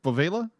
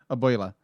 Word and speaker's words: abuela: But it was how do you pronounce it? Bovela? The grandmother. Abuela. Yeah, the abuela was just